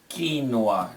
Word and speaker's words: quinoa: tend to mispronounce it but the representation is quinoa this is pronounced like an spanish ii not an eye